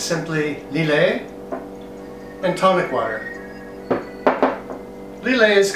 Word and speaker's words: Lillet: It's called an L&T and it's simply lillet and tonic water.